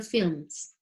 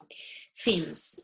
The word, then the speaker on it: films: So with the same people's performances or person's performance in recording or on TV or in films. Films. Remember, there is no pronunciation on L. The L is silent. Films.